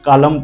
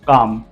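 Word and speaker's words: calm: Talk, walk and काम, जिसको पढ़ना नहीं आता वो टॉलक, वॉलक एंड कालम पढ़ता है, ऐसे नहीं पढ़ना है। टॉक, वॉक एंड काम।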